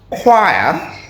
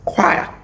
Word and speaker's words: choir: a weird word because there are so many letters there that are not pronounced the way you would expect they are pronounced choir. I don't know why you have the O and the I if you're going to pronounce them as W.